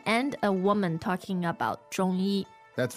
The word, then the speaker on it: 中医: 中医. So, that's Z-H-O-N-G, first tone, and a Y-I, first tone.